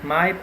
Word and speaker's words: Miep: The proper names like Miep or Miep, it can be pronounced in either way.